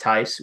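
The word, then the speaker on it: Theis: looked at the roster it is spelled t-h-e-i-s it is pronounced tice we have confirmed for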